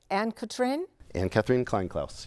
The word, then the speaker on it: Anne-Catherine Kleinklaus: He meets, let's talk about the girlfriend, and I probably am going to pronounce her name incorrectly. Anne-Catherine Kleinklaus.